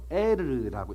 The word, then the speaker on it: 엘: 자, 유다의 장자 엘이, 정확하게 말하자면 발음이 이게 엘이 아니고 이스라엘이란 엘하고 비슷해서 이게 엘이 하나님의 뜻이 아니고 에르라고 읽어야 돼요.